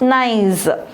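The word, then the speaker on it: gneiss: second nice gne is the way to pronounce it is nice okay nice is an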